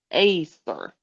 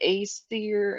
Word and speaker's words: Aesir: yeah, I looked up how to pronounce it, like one of those little video things, and it was kind of like Aesir. And I was like, I don't sound Scandinavian enough to know how to really pronounce that well.